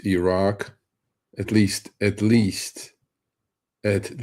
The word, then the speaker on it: Iraq: not Iran it is Iran it is not Iraq it's Iraq at least at least at least pronounce it correctly um a lot of our